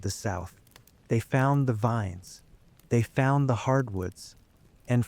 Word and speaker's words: vin: You see, in Old Norse, the word vin with a short I means pasture or meadow.